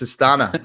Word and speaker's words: Astana: And then we were giving you hints, and we said rhymes with cabana. You're going, "No." I go, "It's Astana."